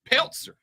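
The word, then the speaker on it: Pelzer: didn't say Anderson and is openly she's from Peltzer a place so country the Z is pronounced it's it's pzer palzer I have been corrected now I don't care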